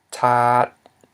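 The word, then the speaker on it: ຖາດ: We have tat, which means tray. Okay, so we have a high consonant, t, followed by a long vowel, a, ending in a dead syllable, t, which equals a low tone.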